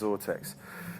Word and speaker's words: Xortex: pathetic so sort X XOR te X it's pronounced zort X so beautifully rendered tube you see pipes coming